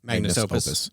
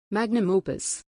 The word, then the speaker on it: magnum opus: Magnus Opus. I think so, yep. Pronunciation. Magnum opus.